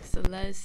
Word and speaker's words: Celeste: It's all about Celeste. Did I say it right? Yeah, you did. Yo. Yeah. Do it for the lady. Whoa, whoa. Celeste, say do less.